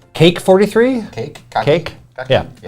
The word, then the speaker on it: Kake: That's pronunciation. Cake43?